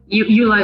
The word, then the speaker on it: Eula: How do you pronounce your last name, ma'am? Eula is correct.